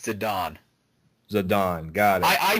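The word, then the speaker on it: Zidane: definitely heart-wrenching I love the Love Story between zadane and Dagger um all right I know that I correct your pronunciation of names a lot like we had the whole moral conversation and oh yeah it's zadon zadon got it I I said it wrong too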